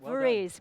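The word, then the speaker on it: Voorhies: the pronunciation of it Roger is it VES that's right VES great uh director financial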